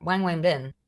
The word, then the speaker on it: Wang Wenbin: Chinese Foreign Ministry spokesman Wang Wenbin said during a press... I hope I'm pronounced... Wang Wenbin. This is how it's pronounced.